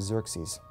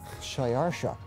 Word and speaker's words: Xerxes: His Persian name, in Old Persian, which is his original native language, is Shayarsha. Now that was hard for the Jews to pronounce, so they said Ahasuerus. We know him as Ahasuerus. And the Greeks said Xerxes, which is Xerxes.